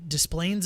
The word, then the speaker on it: Des Plaines: in this preschool um at a church in Des Plaines Illinois and yes that is how you pronounce it um and they had the most